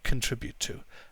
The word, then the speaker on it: contribute: So contribute to, we don't pronounce the O very strongly. It's contribute to.